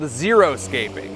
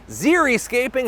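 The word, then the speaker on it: xeriscaping: One of the most popular is called zeroscaping, which I'm hearing now is actually zircaping. I've been saying it wrong for years. The scape is from landscape and the ziri means dry in Greek, which I am Greek Olympics, parthanon, fiser vaccine, zircaping.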